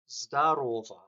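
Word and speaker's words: здорово: Um, when the stress is on the second O, this is a greeting.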